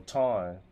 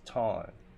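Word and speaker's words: Thanh: No t no ton. T H A N H is ton in Vietnamese. What's up y'all? You pronounce it ton with an N at the end.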